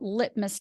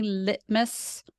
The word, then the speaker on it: litmus: lit mus and then with the emphasis on that first syllable so can you try that word for me litmus litmus yep got it